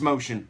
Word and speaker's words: Mocean: over up here it's not M Keen it's motion and he's a producer this are his I